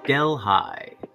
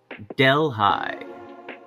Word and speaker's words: Delhi: seat of delaware county spelled like the indian state is pronounced delhi delhi not delhi but delhi